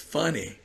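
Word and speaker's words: Fani: her name rather but her name is funny Willis not Fanny Willis right funny Willis uh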